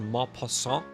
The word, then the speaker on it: Maupassant: And then in France, we have a person, I believe this is pronounced Maupassant, and Nerval.